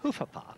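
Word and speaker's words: Hovawart: This is a Hofavart? Well, by my book, it's a Hofavart. Hofavart.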